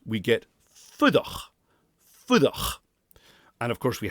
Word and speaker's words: fuireach: We've got the oo vowel, which is an oo sound. We're tempted to pronounce it fuireach in Gaelic, but it's an oo sound. It's very, very short. Very, very short vowel.